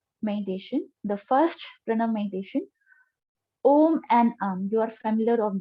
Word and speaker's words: Om: The Om is comprises of the three syllables A, U, Ma. Three syllable sound. A, U, Ma. So if I'll write it down, it's A sound, U sound, and Ma sound.